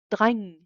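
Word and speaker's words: dreng: which is a gate n plus a g creates this nasal sound where only half the g is pronounced an example is drang boy lang which is long and ingilsk english so the ng sound is kind of similar to that of english in the word long so same ng sound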